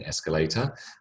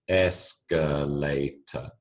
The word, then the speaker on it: escalator: you Circle or somehow highlight the emphasized stressed uh syllable in this case Es as in escalator and then put in